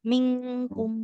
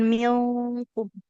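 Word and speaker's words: مِنكُمْ: amma yamillahzina jahaduamirin diulang ibu minkum kalau nun sukun ketemu kaf itu beneran kayak di bahasa Indonesia m kayak kita ngomong gerbang terbang kan ada eng-nya ya mingkum seperti itu. Jadi bukan mium walamma ya'lamillahulladzina jahadu minkum waamirin.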